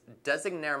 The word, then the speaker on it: Designare: showing you our z170x designare motherboard again that's not a mispronunciation or misspelling it's actually a word taken from an Italian route which represents designer so as you guys